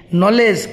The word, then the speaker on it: knowledge: begins with the letter K but it is pronounced as कौन knife KNIFE knife knowledge KNOW LEDG knowledge KNOW no नी माने अंठू